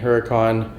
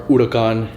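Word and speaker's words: Huracán: It was a Lamborghini Huracan or Huracan, if you want me to pronounce it properly.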